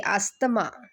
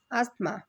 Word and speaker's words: asthma: of the tricky words asthma okay we in marathi say astama but when you speak it in proper english it's called as atma so you have to learn the proper pronunciation dengue is pronounced with